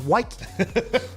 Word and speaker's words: Woike: Woo! Spelled Woike. Pronounced Woike.